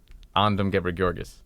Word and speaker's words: Andom Ghebreghiorgis: Andom Ghebreghiorgis. All right. It sounds very royal. I can't pronounce it, but it sounds very royal.